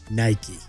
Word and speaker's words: Nike: after founding the company he finally confirmed Nike two syllables make your favorite peanut